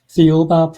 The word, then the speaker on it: Thiaoouba: And how do you pronounce the book again? Thiaoouba Prophecy.